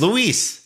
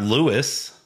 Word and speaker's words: Luis: Luis. Luis? It's not Lewis.